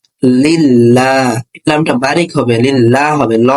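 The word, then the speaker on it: لِلَّهِ: কিন্তু যেহেতু এখানে আল্লাহ শব্দের লামের পূর্বে জের আছে, এই জন্য এই লামটা বারিক বা পাতলা হবে, উচ্চারণটা হবে লা। যেমন লাম লাম সে লিল, লাম খাস লা, লিল্লাহ।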